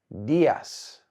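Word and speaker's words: días: buenos Das buenos Das the stress here is on the I so if you listen closely I say Das you'll hear that I emphasize the I buenos Das good morning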